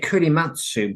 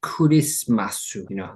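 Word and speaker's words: クリスマス: Well, I think he said kurimatsu, but the Japanese would say kurismasu, like Christmas.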